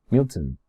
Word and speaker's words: Milton: Para pronunciarlo bien, juntamos la T y la N y no decimos ton, decimos ten. Milton, Milton.